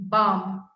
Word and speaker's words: bomb: next one bomb bomb we drop the last b bomb yeah there's no b sound bomb bomb there's a